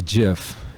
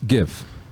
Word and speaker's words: GIF: and people will say Jeff it's a Jeff file but it stands for uh graphical interface file graph so it's a hard G so it's GIF kind of like Easy